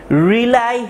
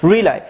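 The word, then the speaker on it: rely: পৃথিবীর দেশগুলো কি করছে, রিলাই হ্যাভিলি। রিলাই মানে কি? রিলাই মানে হচ্ছে নির্ভর করা। রিলাই মানে হচ্ছে নির্ভর করা। এটার উচ্চারণ রিলি না, এটার উচ্চারণ হচ্ছে রিলাই।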